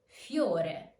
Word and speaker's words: fiore: As you can hear, I'm not pronouncing a full I, but more like a Y. Fiore. Fiore. Not fiore, but fiore. Fiore. This way, you can pronounce the diphthong with a single emission of voice.